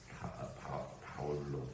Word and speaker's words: 바울: 그 이름을 바울이라고 그 바울은 사실이 우리나라 발음입니다 바울 원래는 바울로 바울 그 정도의 발언이고 그리 영어권에서는 폴이라고 합니다 폴 영어권에서는 바울이라고 하 바울